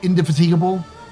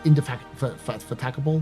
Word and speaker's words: indefatigable: I always indefatigable. It's not how you say it. It's like indefatigable, something like that.